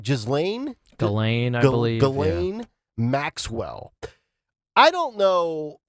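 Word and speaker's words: Ghislaine: jzan galain I believe galain Maxwell I don't know it's almost like Elaine with a G yeah well I don't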